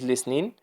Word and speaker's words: listening: The T is mute. T لا تنطق. She's listening to music.